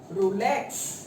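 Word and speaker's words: rouleaux: ROU आता है, ये यू है, लेकिन जब आप इसको प्रोनाउंसिएशन करोगे इसका, तो ये क्या हो जाएगा? रूले।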